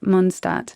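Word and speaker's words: Mondstadt: I don't know what it's called because it's such a basic central theme of of Monstat and they pronounce it Monstat and that makes me happy.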